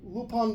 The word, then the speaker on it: Lupin: Basically, Lupin, you said it right.